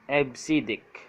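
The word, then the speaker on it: EBCDIC: decimal interchange code or EB cdic pronounced as AB siddik developed by IBM is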